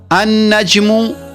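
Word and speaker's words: النجم: अनजमु लाम की आवाज नहीं आ रही। पढ़ने में लाम छुप गया। लाम साइलेंट हो गया।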